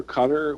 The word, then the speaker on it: Qatar: wait wait wait wait people from Qatar wrote or Cutter how do you how do you say that we sayar yeah we say guar but you know if you're George Bush you say cutter well the military seems to say cutter and George Bush had to